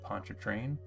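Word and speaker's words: Pontchartrain: the western margin of Lake Pon train which is how you pronounce that wild word by the way for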